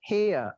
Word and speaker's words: hear: British English, hear. E sama E, hear. Tuh. R-nya nggak dibaca.